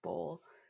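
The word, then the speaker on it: boll: l but I looked it up and it's pronounced bowl and that had almost ruined cotton Growers yeah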